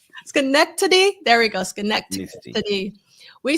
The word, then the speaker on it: Schenectady: according to WGY Radio in, I can never pronounce this right, Schenectady. Schenectady.